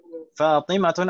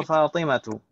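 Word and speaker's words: فاطمةُ: Tadi saya ini yang betul Aminatun atau Aminatu? Aminatu. Fatimatun atau Fatimatu? Fatimatu. Su'adun atau Su'adu? Su'adu. Limadha? Karena dia mamnu' min ash-sharif.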